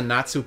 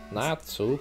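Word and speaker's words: Natzu: place is called the natu plane by the way natu yeah it's like the Japanese pronunciation for nuts nuts oh yeah I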